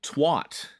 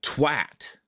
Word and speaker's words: twat: But most of us over here pronounce it twat. Right in the twat. But there, it's like twat. Like you got smacked across the face with it.